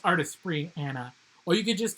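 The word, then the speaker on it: Artesprix: es p RI ex art it looks like artists bricks but it's pronounced artists free Anna or you can just type go to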